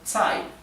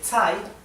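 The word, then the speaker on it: 在: Así que tsai significa en. Vean cómo Z se pronuncia ts, ts.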